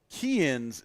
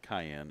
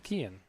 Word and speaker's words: Kian: They even told me that I have been mispronouncing Kian's name this entire time. It's not Cayenne. It's Kian. Kian.